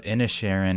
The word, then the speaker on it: Inisherin: talk about the banshees of innocharin and that is how you pronounce it because that's how they say it in the movie martin mcdonough's follow up